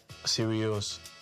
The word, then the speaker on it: Sirius: of the star the dog star it's called serious so that's why I had so how do you spell that s i r i u s serious